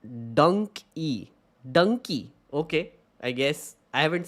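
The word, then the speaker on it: Dunki: d num Dum it seems Dy it's donkey pronounced dony donkey okay I guess I haven't seen the movie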